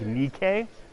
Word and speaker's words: Nike: So this is Athena, and we'd actually pronounce it if we were speaking better Greek, Nike.